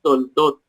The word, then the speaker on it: Toldot: Ambas palabras se pronuncian Toldot.